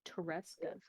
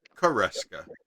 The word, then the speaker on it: Koreska: I thought you said Tereska. Nope, Koreska. Okay.